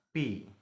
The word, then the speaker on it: π: Nah, ini lambang yang seperti ini. Ini dibacanya pi.